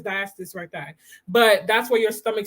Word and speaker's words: diastasis recti: Some women struggle with, I think it's pronounced diastasis recti. I think it's diastasis recti.